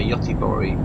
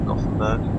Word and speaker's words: Göteborg: Yeah, Göteborg, which is how they say it in Sweden for Gothenburg.